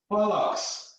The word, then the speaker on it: bollocks: That is bollocks. That's how it's spelled, O-C-K-S.